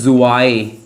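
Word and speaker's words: zwei: फिर टू टू को हम लोग बोलते हैं जुआईए।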